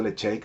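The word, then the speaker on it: Ledaig: Nevis 10, Lecheik 10, se pronuncia Lecheik pero se escribe Ledaik, Arbec 10 y Glencadam 10.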